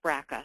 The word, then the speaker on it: BRCA: brca1 and brca2 genes they're often pronounced braca so you'll hear us using